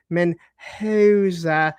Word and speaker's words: Mendoza: It is Mendoza.